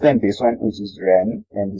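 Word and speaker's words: 人: It's not like ren, but it also has a bit of J sound in it.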